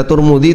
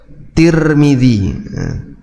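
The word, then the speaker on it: ترمذي: Cara baca Turmudzi itu ada dua ya. Bisa pakai domah turmudzi, bisa pakai kasrah tirmidzi. Kalau pakai domah, dua-duanya didomah turmud atau tirmid.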